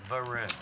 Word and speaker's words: Varun: Your name is pronounced the same as Harun? Yeah, with a V. With a V, but I prefer to think my name is spelt better. Varun.